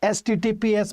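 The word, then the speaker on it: HTTPS: सेट भी आता है एचटीटीपीएस भी आता है एस एसटीटीपी नहीं कहते हैं इसको एचटीटीपीएस कहते हैं एचटीटीपीएस कहेंगे सही उच्चारण यही देखना वेबसाइट में कभी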